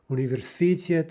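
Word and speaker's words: университет: You could say universitet, universitet, universitet, universitet. Those are all incorrect, right? The correct version is universitet, universitet, with the stress on the final syllable.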